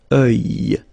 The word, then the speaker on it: œil: Strange combination of vowels here, okay? And then you will get the sound E and then Y. Œil. Alright? And it's masculine, by the way. Un œil.